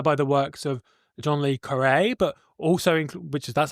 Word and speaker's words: Le Carré: It's a game about espionage, apparently, inspired by the works of John Le Carré, but also, that's how you pronounce it, but also including psychedelic sci-fi elements inspired by people like Le Guin.